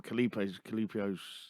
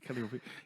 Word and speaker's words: Calliope: day again, but from Calipo's. I'm going to say it wrong. I'm going to call her Calipo now. That's not right. It's an ice cream, isn't it? Calliope.